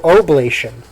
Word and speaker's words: oblation: Oh, oblation. Oblation. Oh shit, That's was I pronouncing totally it wrong?